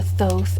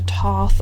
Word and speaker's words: Thoth: The one that's most recent, I would have to say, is the Thoth, or the Thoth, or the Toth, or the many other pronunciations.